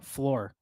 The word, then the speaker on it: Flor: Flor. Flor. Yeah. So Flor. No, you're saying it wrong. Yeah, Flor. Gotta roll the R's.